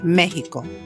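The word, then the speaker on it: México: It has the H sound only for names of certain places or people as in Mexico.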